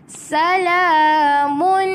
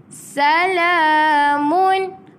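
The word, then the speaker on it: سلام: hattailj boleh Insyaallah Salamun Mun jelas tanwin bertumbuh dengan ha bulat tanwin bertemu dengan ha bulat jadi hal cara bacaan Dia kena jelas kita tak baca salamu kita dengung pula mu tak baca macam tu sebab apa tanwin bertemu dengan huruf ha jadi dia izhar halq izhar halq maksudnya kena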